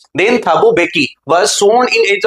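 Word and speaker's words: Mbeki: अब first deputy president के तौर पर थाबो बेकी ने ली। एम यहाँ पे साइलेंट है।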